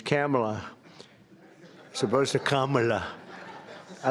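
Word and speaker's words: Kamla: It's Cam, right? Cam as opposed to Com."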